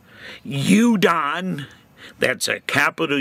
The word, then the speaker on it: udon: U is for you done noodles. Am I pronouncing that right? Udon, that's a capital U, and lowercase D-O-N. Udon noodles.